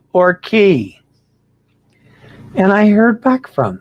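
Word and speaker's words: Cay: the island two issues are we going to call it relax away at Half Moon K or relax away at Half Moon Key you using the proper key pronunciation or are we going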